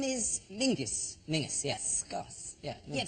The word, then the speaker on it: Menzies: Yeah, but it's pronounced, it's spelled M-E-N-Z-I-E-S. Yes. Well, why are you looking at me like I'm insane? That's Menzies. Menzies. Yeah. John Menzies. Menzies. People don't go, let's go to John Mingus.